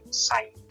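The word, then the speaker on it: Saïd: was literally said, but with the like an umlaut, I guess. That means the I is pronounced separately, so it's like Saeed.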